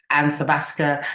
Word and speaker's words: Athabasca: Listen, I am so pleased and honored to be given this opportunity, and I'm going to pronounce it right. Athabasca University, online in Canada.